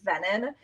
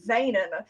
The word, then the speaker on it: Venen: Um I usually just go by, but my last name is pronounced Venen.